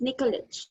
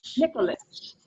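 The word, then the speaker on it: Nikolić: everyone this is noreen nicolek am i pronouncing your last name right it's nicholitch nicholas i realize i've never said it out loud so i've only been saying it in my head nicholas and she's joining us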